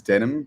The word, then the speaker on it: Denim: My name is Denim, pronounced like the jeans.